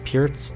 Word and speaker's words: Pirc: I believe it's pronounced Pirc defense.